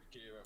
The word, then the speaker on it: Akira: Right, so we have got the film I can't pronounce, Akira. Akira. Yeah, Akira.